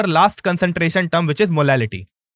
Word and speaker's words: molality: So there is only one difference in letter in both their pronunciation, which is molarity and molality, L and R.